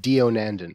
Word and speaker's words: Deonandan: thinking doctor good morning you say it dio nandan that's how it's pronounced to set the record you want a